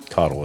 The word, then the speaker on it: Caudill: You say Codle. Codle is the right way to say it. Yeah. Codle. I like my pronunciation better, but we're going to call him We're going to call him Codle.